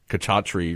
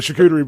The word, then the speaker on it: charcuterie: And I can pronounce that correctly after calling it kachatri or whatever I've called it throughout my whole life. You know, like charcuterie.